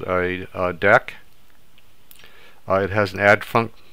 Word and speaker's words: deque: to cover what a deck is it looks like DQ but it's actually pronounced deck so DAC also known